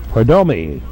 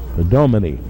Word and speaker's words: Perdomini: Here's Perdomi. And I said that wrong. Perdomini. We got an extra syllable in there.